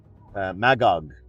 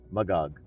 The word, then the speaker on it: Magog: Like I was Magog is how you say it. Magog.